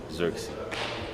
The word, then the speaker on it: Zirkzee: this is how you say my name Joshua xery of course we don't just sign players we